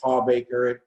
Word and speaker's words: Hawbaker: It's Hawbaker. I tell the girls it rhymes with heartbreaker.